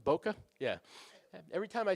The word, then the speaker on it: bokeh: all about bokeh now is that the proper pronunciation Boca yeah every time I say that I want